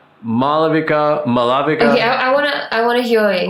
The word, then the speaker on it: Maalavika: It's Maalavika. Maalavika. Yeah, and sometimes the after lo is also like silent depending on who you are and how you say it.